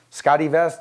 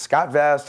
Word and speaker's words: SCOTTeVEST: with a name that Scotty vest the E is that silent Scott E you know it's it's Scott vest I mean it's hard